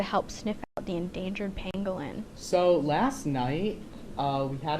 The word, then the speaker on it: pangolin: We're talking about dogs rescuing pangolins. how do you pronounce it?